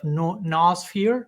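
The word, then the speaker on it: noosphere: matter which is the concept of nosphere. That's how you pronounce it. Yeah. No sphere or newphere. Yes. No sphere.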